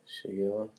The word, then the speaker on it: Shigella: Shigella.